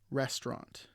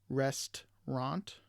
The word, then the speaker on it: restaurant: So we camera instead of camera, chocolate versus chocolate, aspirin instead of aspirin, and we have restaurant instead of restaurant.